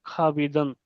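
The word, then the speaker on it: خوابیدن: है इसमें वो है खाबीदन यानी कि सोना खाब सोने को भी बोलते हैं और सपने को भी बोलते तो अब इसमें वाऊ का प्रोनाउंसिएशन नहीं होता है। साइलेंट होता है।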